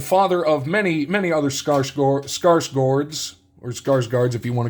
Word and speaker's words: Skarsgård: days, we have Stellan, as I found out how it's actually pronounced, Skarsgård, not guard, but Gord, on the Marvel Allure.